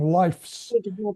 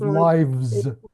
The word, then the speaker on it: lives: You're saying it as an F. You're saying life's instead of lives.